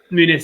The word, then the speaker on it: Muniz: He's Brazilian though, isn't he? So it's Muniz. So it's the Muniz.